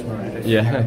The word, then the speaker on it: Maredudd: You might look at his name and not know how to pronounce it, but it is Maredudd.